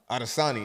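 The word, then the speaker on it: Adesanya: Adosani.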